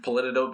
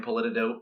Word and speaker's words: Politidope: is that right yes Politico calm on Twitter I am Politico it's it's spelled just like it sounds pol I tid ope